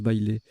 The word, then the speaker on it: bailé: Bailé, B-A-I-L-E, qui est un nom masculin qui se prononce bailé.